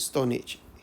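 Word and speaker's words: Stonehenge: Okay, this is how you pronounce it, Stone Age. H is silent there.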